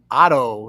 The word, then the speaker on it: OTTTO: Trujillo from the band Otto is that the right pronunciation yeah that's correct what's up how you